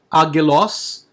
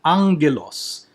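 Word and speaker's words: ἄγγελος: And if that is the case, you pronounce the first G as a Ng or a N.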